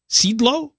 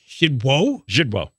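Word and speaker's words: Szydło: Sidlo? How would you pronounce it? Zidwo.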